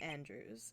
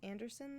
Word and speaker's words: Andrews: person's name is adrian andrews i knew it wasn't her name anderson though i've been saying her name wrong the whole time i have i've been